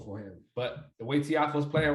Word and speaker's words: Tiafoe: So when is Tofi's? Did I say it right? Tofi? Tiafo.